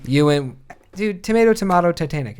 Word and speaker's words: Ewan: say it right and then the ah poor Ian McGregor in Ewan Ewan dude tomato tomahto Titanic it's all the same